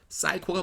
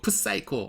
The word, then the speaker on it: psycho: P를 발음해서 영어로 할 적에는 앞에 P하고 자음했을 적에는 P를 발음 안 해요. 사이코가 뭐예요? Psycho죠. 사이코. 근데 이거 프사이코.